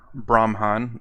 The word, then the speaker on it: Brahman: When you say your pen is only a part of Brahman, Brahman, that's the way it's pronounced.